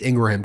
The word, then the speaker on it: Ingraham: show even Ingraham was that's how you pronounce it it's Ingraham cuz I had her brother on it's not Ingram um Laura Ingraham had him